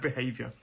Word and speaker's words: behavior: There are 3 syllables in this word. Behavior. Behavior. And the stress is on that second syllable, that hey.